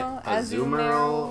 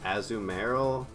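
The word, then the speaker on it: Azumarill: Uh, people say aumemeral or aumeroll. Azumaru. I've always just said I've always just said a zumemeral.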